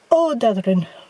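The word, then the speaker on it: Ódáðahraun: Odadrin. There we go. You have to just sort of cut out several of the syllables.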